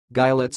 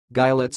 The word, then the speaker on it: gilets: pronounce this sentence sentence you see it sounds like guy let's and body warmers guy let's and body warmers and